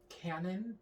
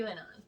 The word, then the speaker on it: QAnon: Canon? Canon? Quanon. Quanon. QAnon, I think. Okay. QAnon. So- Like you pronounce the Q. That's how the letter Q works.